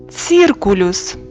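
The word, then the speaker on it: circulus: Буква С. Вимова Ц. К. Циркулюс круг. Повторюємо. Циркулюс. Буква Д.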